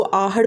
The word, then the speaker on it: आहड़: है तो AHAR है, हिंदी में इसको आहड़ प्रोनाउंस करते हैं, लेकिन इसको मैंने जब इंग्लिश में फ़र्स्ट टाइम पढ़ा तो मैंने इसको आहार पढ़ लिया था।